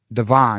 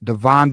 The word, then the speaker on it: Devon: his first name right Devon not Devin Devon Benjamin number one ranked